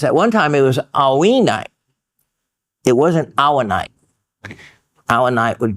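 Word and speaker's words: haüyne: I believe his pronunciation, H-A-U-Y. Now it's with one of those little umlaut things or whatever they call them. Not my alphabet, but I hear and understand his pronunciation is to be alwine.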